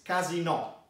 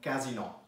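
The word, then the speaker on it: casinò: casino called in italian it's actually the same word but with a different stress it's casino so you stress the o at the end casino very different from casino okay guys by the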